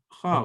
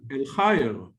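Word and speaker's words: الخير: And then the ya is got the sukun, like a mute. Yeah. Khar. Okay, now try to read it again. El-khar. No, but you have a ya here. Yeah, and you have to spell it. El-khayr.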